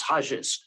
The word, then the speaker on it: Hayes: paraguay named for him which they pronounce hajis instead of haze but uh that's my